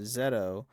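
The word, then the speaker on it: ゼット: Hi Nou Kagayyama is saying zed is simply isn't pronouncing the o at the end of zetto uh which is the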